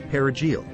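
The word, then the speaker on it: perejil: inquire about its identity The crucial detail lay in the pronunciation of the Spanish word for parsley perigil if the person responded by correctly trilling the r sound their life would be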